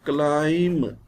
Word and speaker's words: climb: When B comes after M, it is not pronounced. At the end of the word, climb. What is the word? Climb. We shall not read it climb. B is silent. Crumb, dumb, comb. B is silent in all these words.